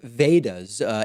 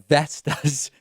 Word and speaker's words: Vedas: players from sun tendulkar he also mispronounced vedas ancient hindu religious texts as vestas which is something else altogether and then of course